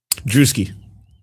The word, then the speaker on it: Drewski: By the way, is it Drewski or Drusky? Drewski. Oh my god! All right, so FYI, the video tomorrow, I pronounce it as Drusky the entire time. So you better go back and fix it.